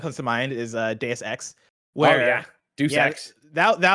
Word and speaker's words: Deus Ex: single time i'm like oh this deuce x game looks really cool uh but then i started talking to people about it and i was like oh it's pronounced deus ex and there was one